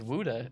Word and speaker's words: Gouda: Gouda is Wuda. Ah, Dutch.